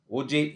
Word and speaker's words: Auger: uh topic that is OJ effect so even though uh according to the uh spelling here it appears auger but the pronunciation one should make as OJ so OJ effect so